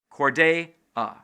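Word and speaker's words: Cordea: So for female names, these people put a glottal stop between two vowels, which changes the second vowel from long to short or vice versa. Te, ani. Corday, a.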